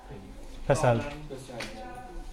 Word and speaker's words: PESEL: How's it pronounced? Pesel.